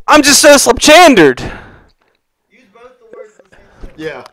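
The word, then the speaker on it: pslabchandere: ahead so it's it's slap chander um but it is uh it is p s l a b c h a n d e r e Ed all right uh the p is silent this SL chard means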